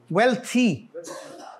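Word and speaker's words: wealthy: और आगे क्या लफ्ज है जी, ये वेल्थी. वेल्थ वेल्थी just like हेल्थ एंड हेल्थी.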